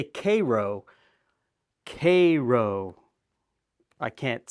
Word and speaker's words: Karo: So I would say Karo because it's Caroline is who it was named after. A lot of people say Karo.